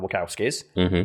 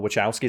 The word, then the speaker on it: Wachowski: For example, we talking about Speed Race, which is directed by the Wachowskis, or the Wachowskis. Some people pronounce it the Wachowskis.